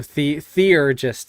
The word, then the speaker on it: theurgist: So theurgist is what you said, right?